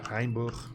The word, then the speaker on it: Rheinbruch: The Germans pronounce that Rheinbruch.